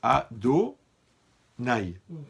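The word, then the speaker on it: Adonaï: temps ça va ok maintenant le nom yavke on le prononce à do naï d'accord pourquoi on peut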